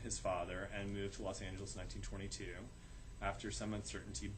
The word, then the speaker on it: Los Angeles: The paper of record insisted that the proper pronunciation was distinctly Spanish, Los Angeles, a pronunciation it actually printed under its masthead for several years.